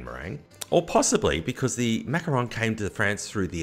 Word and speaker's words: macaron: and macron okay so i will admit i do say macaroon quite a lot because i'm american and and spelled with two o's are actually the coconut concoction all right so it's the power of coconut and it's usually dipped in chocolate they're super delicious but very different from the french macaron okay spelled with one o and that is what